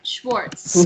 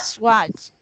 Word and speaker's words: Schwartz: Oh, actually, I want to point out Schwartz. Swatch. Not Swatch. not Swartz. The SCH is pronounced with a sh sound, like shoe or sh.